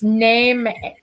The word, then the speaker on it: Nemeton: It's Nemeton. It's not, even though it's an E, it's not E, it's A.